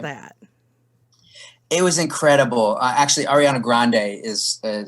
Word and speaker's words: Ariana Grande: Actually, Ariana Grande is how you pronounce her name, and Ariana she has Grande.